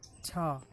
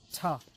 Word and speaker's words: to: You can see over here, we are not pronouncing it as do, but it's ta, because we often use swa when a particular